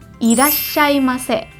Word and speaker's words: irasshaimase: juga dipersingkat nih karena sebetulnya yang betul itu bacanya irashaimase Wow bahkan ini tebel ya di double you double gitu ya Double S double R di esnya esnya Oh oke jadi irashaimase